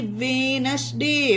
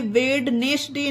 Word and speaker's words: Wednesday: उसी तरह से WEDNESDAY, वेनसडे, वेनसडे होगा, ये वेडनेसडे नहीं होगा, ये होगा वेनसडे।